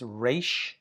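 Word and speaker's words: resh: Here, the third to the last letter in the conant consonants is re r is how we say that.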